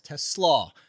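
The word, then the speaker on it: TeSlaa: Uh it's actually the harder pronunciations on the second part is Teslaw.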